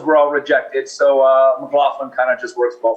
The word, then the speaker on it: McLaughlin: last name is McLaughlin m c l a u g h l i n and it's easy to remember because it's got the word laugh right do you pronounce it